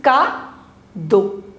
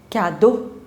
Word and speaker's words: cadeau: CA is Ka. Ka. Now the pronunciation of EAU is O. And the last consonant you don't have to pronounce. So it becomes Ka-do. Cadeau.